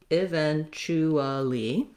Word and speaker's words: eventually: more to eventually charlie so i'm going to kind of lose that ooh sound so two ways even chuwali you can hear how